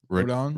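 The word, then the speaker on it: Rodón: Rodon?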